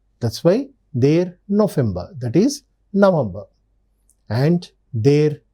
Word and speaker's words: November: their November remember the V is generally pronounced pronounced as f that's why their November that is November and their December that is December.